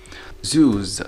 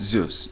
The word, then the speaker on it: zoos: Zoos, not Zeus, zoos, because here we have a vowel. Vowels, كامل vowels مع ال Z, صوت Z, so zoos.